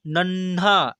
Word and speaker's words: नन्हा: क्या लिखा हुआ है न और न और ह काहा यानी नन्हा ऐसे पढ़ेंगे न को थोड़ा सा